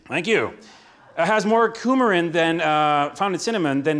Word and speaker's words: coumarin: It's pronounced coumarin. Thank you. It has more coumarin than found in cinnamon than the EU rules allow.